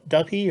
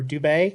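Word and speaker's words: Dubhe: this one is called ducky or dube you can say either way there's about three or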